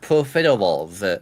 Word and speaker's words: profiteroles: It's pronounced profiteroles.